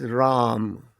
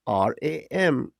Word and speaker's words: Ram: My name is Ram. Phonetically, it is pronounced RAM, but in America, it is Ram. I've spent half my life teaching people Ram.